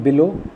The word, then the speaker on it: below: In below, the stress is on low, L.